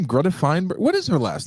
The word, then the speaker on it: Thunberg: Is her name Greta Feinberg? What is her last name? The young Greta Thunberg. It's Thunberg. Can't be pronounced by us stupid Americans.